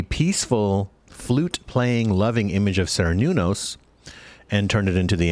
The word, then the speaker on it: Cernunnos: There is a wonderful forest spirit guide that you can work with whose name is Cernunnos. Cernunnos is spelled like Cerrenunos.